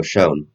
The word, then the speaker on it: Schoen: So that's why GMs like Joe Schoen, that's how you pronounce it? yeah, Joe Sean.